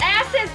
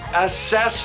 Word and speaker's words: assess: view from the top asses the window it's assess the window you put the wrong emphasis on the wrong syllable on dvd and video